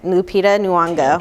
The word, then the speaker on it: Lupita Nyong'o: Lupita Nyong'o. Okay, Lupita Nyong'o.